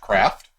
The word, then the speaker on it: Craeft: the screen yeah pronounced craft as you say normal craft I've also heard it pronounce craft it it's it's supposed to be a blend between a and e that's why it's literally